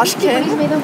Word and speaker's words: Ashkhen: And now Ashkhen is pronounced Ashken, Gayane is Gayane and there is no problem.